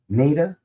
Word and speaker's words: Nada: Anyway, Nada could be like, I hear, with They Live, I hear that character's name pronounced Nada. In fact, I think even John Carpenter himself pronounced it Nada.